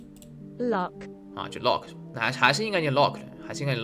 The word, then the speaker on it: Loch: 然后这话Loch 或者 Loch Mess 查一下吧，这个单词。这期反正都已经这么长时间了，本来也不短。Loch 是应该 Lochs 是吧？Loch 苏格兰湖泊，苏格兰盖尔语，这个词苏格兰盖尔语怎么翻译呢？啊，是应该是 logs Scottish Gaelic，这么难发音吗？查一下，既然是 Scottish 发音了，怎么发？Lock 啊，就 lock，那还是应该念 lock，还是应该念 lock，不是应该念 lock，